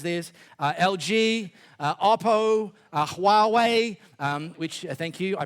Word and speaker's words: Huawei: Uh LG uh Oppo Huawei um which thank you I pronounced that correctly.